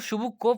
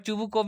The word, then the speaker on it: Chubukov: तो शुभकोव, वैसे बच्चों रशियन में इसको शुभकोव पढ़ा जाएगा, ठीक है, बट चुबुकोव भी पढ़ोगे तो भी गलत नहीं है प्रोनाउंसिएशन।